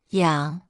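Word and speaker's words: 洋: It's pronounced yang.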